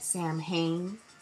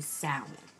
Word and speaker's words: Samhain: It is originally known as Samhain, and some people may say Samhain, but I'm of an understanding that pronouncing it as Samhain is completely incorrect, and it's really Samhain.